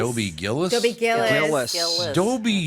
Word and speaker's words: Dobie Gillis: Also on the show that day was Dobie Gilles. What? Dobie Gills? You mean Gillis? Dobie Gillis?